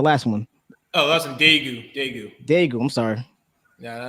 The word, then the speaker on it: Daegu: book, the Black Traveler's Guide to, was it Dakwa, South Korea? How you pronounce it? Which one? The Black Traveler's Guide, the last one. Oh, that's in Daegu.